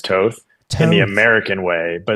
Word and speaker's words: Toth: way, but it's actually it's Toth in European, but I go by Toth just because growing up, it was so easier for Americans to pronounce Toth than Toth. So I just generally went with Toth instead of Toth, but Toth is technically correct.